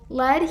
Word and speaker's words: led: So Led here, spelled L-E-D, is the past tense of the verb lead, meaning opposite of follow, to take charge. And while it is pronounced the same exact way as the correct word